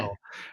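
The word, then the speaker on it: Schjeldahl: Is Sheldal? Sheldal, yes. It's Sheldal, just like okay. shell like a seashell and doll like a baby doll. People kind of see the J and panic.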